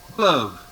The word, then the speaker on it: fleuve: Fleuve.